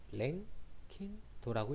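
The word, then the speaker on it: 랭킨도: 그리고 우리는 절대 온도일 때는 도 R이라고 쓰는데 이거는 랭킹도라고 읽습니다. 이게 무슨 소린지까지 필요 없고 단위 환산하는 관계식만 알고 있으면 돼.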